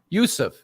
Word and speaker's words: Yusuf: your last name Yusuf Yusuf yeah it's like Joseph yeah so yeah sorry